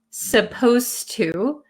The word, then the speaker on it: supposed to: at supposed to and notice when i pronounce supposed to um the d sound and the t sound become kind of like one sound so when i speak